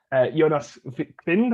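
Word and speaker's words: Jonas Wind: I would say I put down sort of the danger man that I think Finland will have to face is Jonas Vind, I think it's pronounced, of Copenhagen.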